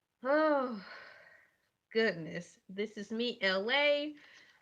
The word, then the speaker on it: Elay: This is me, LA. Pronounced like LA, not like the city.